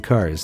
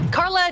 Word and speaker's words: Cara: Of course, things didn't begin on the best note when one of the hosts began the interview by getting CARA's name wrong. Carla Delevingne is in the movie.